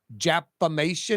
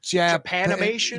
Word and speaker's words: Japanimation: Thank you, Japamation. Is it Japamation? How do you pronounce it, Jim?